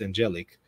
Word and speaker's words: Angelic: Angelic Molin, pronounced Angelic, was ordained to the diaconate in Zimbabwe.